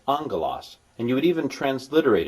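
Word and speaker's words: ἄγγελος: is two gamas GMA GMA and it's not pronounced aalas it's pronounced angas and you would even transliterate it you would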